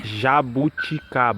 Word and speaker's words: Jabuticaba: I'm pronouncing it wrong, but it's like Jabuticaba. How do you say it, Davi? Jabuticaba.